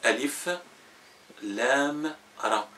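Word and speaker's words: الر: les prononce pas attachés on les prononce détaché par exemple sur Joseph on a le a L et R r donc on dit a l r mais en arabe on dit Alif Lam r par le nom de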